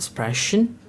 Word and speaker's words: sprechen: The next letter combination is sp, and st, which is pronounced like the English word shp and sht. We have the example of word sprechen, which means to speak, and stehen, stehen, which means to stand.